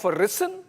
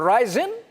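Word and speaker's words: ricin: was preparing a poison by the name of Rissen or Ryzen. Both pronunciations are right.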